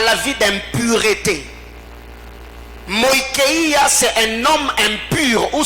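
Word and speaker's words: μοιχεία: Le premier mot, c'est moïkeia. Moïkeia qui s'écrit comme M-O-I-C-H-E-I-A.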